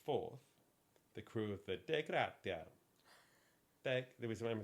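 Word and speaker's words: Dei Gratia: On December the 4th, the crew of the De Gratia.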